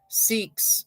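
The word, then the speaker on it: Sikhs: Awareness Month Farmers month and financial literacy month seeks around the world and that's s-i-k-h-s-s-i-k-h-s seeks around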